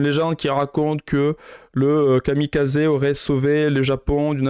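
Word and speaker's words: kamikaze: avec les attaques kamikaz qui se prononce d'ailleurs Kami Kazé et Kami c'est donc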